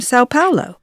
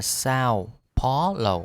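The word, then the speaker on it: São Paulo: And I'm from Sao Paulo. Từ này chúng ta đọc là Sao Paulo hoặc là Sao Paulo đều được.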